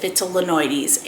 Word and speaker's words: vitellinoides: believe that the pronunciation for this it's not vitellinoides it's vitellinoides um Meo from basy Plants uh pronounces it vital linoides and I will definitely follow his pronunciation because